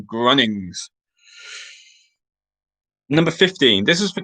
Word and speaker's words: Grunnings: Again, spelling doesn't matter, but just for pronunciation, Grunnings.